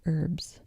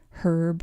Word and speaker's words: herb: what he thought about pronouncing the word herb or herb, and he said that herb is the name of a man. So, that's how you're supposed to remember it, apparently.